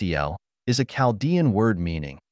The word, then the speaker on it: AL: Al pronounced Eel is a Calaldian word meaning among other things God or the great one.